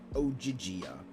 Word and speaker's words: Ogygia: As to where you are in Ogygia. She pronounced it like Ogygia.